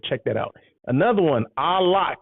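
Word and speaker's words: Au Lac: that out another one a lock and then it's spelled a-u-l-a-c a lock it's in downtown l.a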